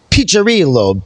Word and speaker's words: Piccirillo: All right, and it's pronounced Piccirillo. The double C is a cha.